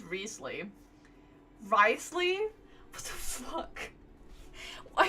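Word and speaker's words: Wriothesley: I lost a bet with Ridesley, and now I have to buy him something. Ridesley? Riesly? Leslie. I can't anymore. The actual real pronunciation of the name is Riesly.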